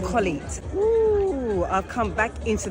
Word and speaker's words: Colette: My name is Colette, pronounced Colette.